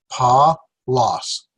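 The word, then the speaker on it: Παῦλος: A diphthong and another vowel. So there's 3 syllables. Pa-los.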